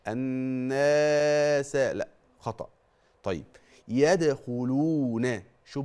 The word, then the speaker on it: الناس: في دين الله افواج هقول لك الفرق بين نطق المد الطبيعي النطق الصحيح وبين نطق المد الطبيعي نطقا غير صحيح لما تقرا ورايت ورايت ورايت الناس شوف الناس يدخلون الناس دي الف وقبله مفتوح بنسميه ايه مد طبيعي قد ايه حركتين ان الناس ما تزودش ما تقولش الناس لا خطا طيب